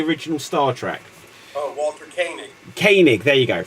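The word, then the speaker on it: Koenig: inalienable and the the idea of it Walter coing who played can anyone tell me one after the coig or whatever it's pronounced right played uh check off on the original Star Trek oh Walter kanig kanig there you go right so he wrote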